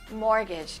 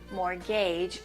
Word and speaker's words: mortgage: say it first good mortgage mortgage the t is silent listen again mortgage mortgage the next